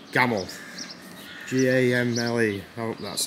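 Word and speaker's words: Gamle: step off ship and this area is called Gamel g-a-m-l-e oh that's how you pronounce it old Cobble streets old white houses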